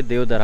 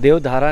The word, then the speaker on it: Devdarha: Google map में डालोगे देवधर हक मार देवता मंदिर गए टेंपल आता है या फिर वह वाटर फोटो देवधारा नहीं है देवधर है स्पेलिंग देख सकते हो